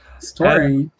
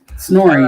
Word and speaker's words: Snorri: And Story. Snorri, not story.